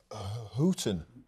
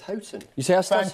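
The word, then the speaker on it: Houghton: going to say actually Peter melson just picked me up on my pronunciation of hooton hton he sayon well this is happen spring exactly Chris I think it's hton you thank you thank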